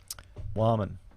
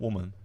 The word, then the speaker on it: Warman: No, it's actually pronounced Warman. 1, 2, 3. Warman. You know, that's it. Not woman.